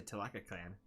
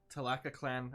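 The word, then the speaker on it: Tlalocan: I mean, we could rename it back to Tlac clan.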